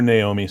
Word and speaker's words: Nao: pronounce his name Nao it's short for Naomi so it's Nao Nao okay he's gonna